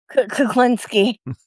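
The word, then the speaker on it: Kulinski: I think you mispronounced his last name. Kuklinski.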